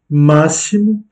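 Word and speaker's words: máximo: Massimo, ici le X se prononce se, massimo, et non pas massimo, ou encore maximo, non, massimo. Et vous accentuez la première syllabe, massimo.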